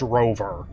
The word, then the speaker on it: ROV: Bradford said before yeah that is pronounced Rover it's just ROV r as the actual name not now recover cargo